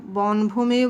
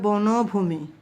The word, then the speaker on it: বনভূমি: এখানে কয়েকটা শব্দের কঠিন শব্দ অর্থ, যেমন ধরো বনভূমি শব্দটা বনভূমি বলা যায়, কিন্তু সেটা সঠিক না, সেটা হবে বনভূমি, উচ্চারণটা হবে বনভূমি।